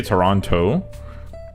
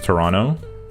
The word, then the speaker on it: Toronto: Yeah, cuz like in in Toronto, we don't say Toronto. We just like emit the T. So, it becomes Toronto.